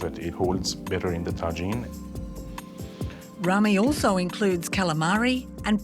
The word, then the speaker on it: tagine: Only in Egypt, the word's pronounced differently. We pronounce it as tagine.